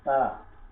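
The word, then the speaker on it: ت: তারপরে তা, তা এই ত দিয়ে আমাদেরকে তা উচ্চারণ করতে হবে। তটা হবে নরম, একবারে নরম, তা।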